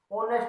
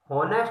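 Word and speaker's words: honest: लिखा, होनेस्ट लिखा, होनेस्ट, इसको बोलते क्या हम, ऑनेस्ट बोलते हैं, होनेस्ट नहीं बोलते इसको, ऑनेस्ट बोलते हैं। क्या बोलते हैं, ऑनेस्ट बोलते हैं। एच तो साइलेंट होता है, ये साइलेंट होता है, ऑनेस्ट की आवाज आती है, तो उस केस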